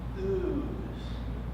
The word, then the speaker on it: US: In the land of the U.S., as we, the people, aka U.S., in which a better pronoun should be pronounced ooze, which rhymes with booze.